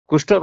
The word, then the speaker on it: কৃষ্ণ: কৃষ্ণ নাম নিজেলে কৃষ্ণর অর্থ কোন জানি কৃষ্ণর অর্থ হচ্ছে আকর্ষণ আকর্ষক ইয়া কৃষ্ণ নাম নয়ে সঠিক উচ্চারণ হইছে কৃষ্ণ আপন কারাগের জন্ম নেই সে